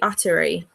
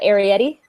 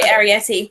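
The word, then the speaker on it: Arrietty: The Studio Ghibli movie Atari. The Arietti. Yeah, sorry, Arietti. See, yes. My pronunciation is crap.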